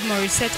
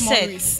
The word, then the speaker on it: Morissette: Morissette. It's not Morris. Leave Morris alone.